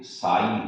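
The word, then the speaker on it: psi: इसमें ध्यान रख लो ये साई है, इसको पसी मत बोल देना, पी साइलेंट है।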